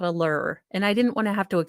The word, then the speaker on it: Lrrr: Um, I was going to name him Lur after Lur, the ruler of Omicron Persei 8, but he is kind of a crybaby.